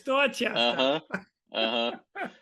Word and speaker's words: Dorchester: Dorchester. It's Uh Dorchester. huh. Uh-huh. We do not pronounce our R's.